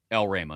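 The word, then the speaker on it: Elrama: I thought it was El Rama. El Rama is how it's pronounced.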